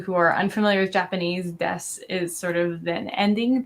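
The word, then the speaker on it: です: So, but you only pronounce this part. You don't really say desu.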